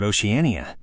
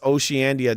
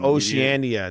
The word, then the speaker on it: Oceania: It's pronounced Oceania, douchebag. And that's what I said. It's called Zandia. No, what? It's pronounced Oceania. That's how it's pronounced.